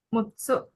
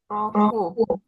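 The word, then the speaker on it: 六: Roku mutsu bacanya apa kanjinya?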